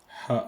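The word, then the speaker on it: ح: En bref, donc pour prononcer le ha, il y a pas le point comme j'ai dit tout à l'heure. Donc il faut bien prononcer avec la gorge.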